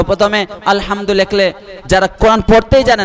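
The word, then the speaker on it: الحمد: পড়তে হবে আরবিতে পড়তে হবে বাংলা উচ্চারণে ইংরেজি উচ্চারণে পড়া যাবে না তো আলহামদু এটা ইংরেজিতে কি লেখা কখনো সম্ভব এতে আ হয় ও হয় তবে ইউ তে প্রথমে ইউ থাকলেও তো আ হয় তো প্রথমে আলহামদু লিখলে যারা কোরআন পড়তেই জানে না বলবে এলহামদু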